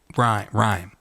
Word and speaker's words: Rime: I'm sorry I I'm it's called rhyme of the Ancient Mariner like a rhyme like a nursery rhyme yes but it's spelled so it says i-m-e all right but does